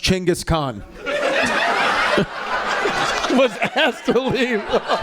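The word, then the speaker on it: Chinggis Khan: But that is the way you don't say genis Khan. It's Chingis Khan. That is the Mongolian pronunciation.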